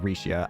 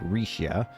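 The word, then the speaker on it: Rixia: about reia Ma's wellbeing I'm still going to have to get used to saying rishia I know I said I'd still say Ria but I should probably try and do the official pronunciation of the name rishia rishia got it there have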